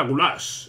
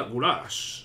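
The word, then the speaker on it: Güler: rescisión de B Bueno guler realmente se pronuncia gulash arda gulash Sí muy bien Bueno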